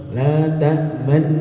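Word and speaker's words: لَا تَأْمَنَّا: La ta'manna ya, seperti itu. Atau dibuat raum oleh para ulama. Ya. La ta'manna, la ta'manna. Nunya berbunyi nu, tapi tidak boleh terdengar.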